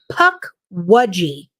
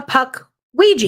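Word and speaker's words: pukwudgie: otherwise known as a puck wudgie that is the correct pronunciation oh what somebody in here we're not going to any names I'm tired of y'all picking on me called it a puck Ouija y'all bullying me in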